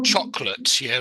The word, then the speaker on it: chocolate: I mean, I think in words like vegetable, we don't say that. We say vegetable, vegetable, or chocolate. Not chocolate. We miss the O in the middle out, chocolate.